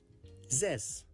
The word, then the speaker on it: zes: This is pronounced like Z and the S sound of the word mess. Z and S. Zes.